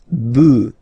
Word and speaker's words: bœufs: add this S, but then pronunciation changes quite much, because you get des bœufs, alright, un bœuf, des bœufs, alright, then un œuf, des œufs.